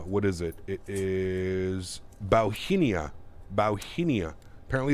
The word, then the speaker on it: Bauhinia: is it it is bauhinia bauhinia apparently it's a flower bowhinia that's our call sign today gotta remember that one it's not hong kong airlines it's bauhinia bohemia bauhinia sure bauhinia should we should we